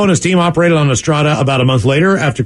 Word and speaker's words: Estrada: Last name Estrada is Eric Estrada. Emphasis on D.